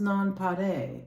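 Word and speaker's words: nonpareil: It's a French word and is pronounced nonpare.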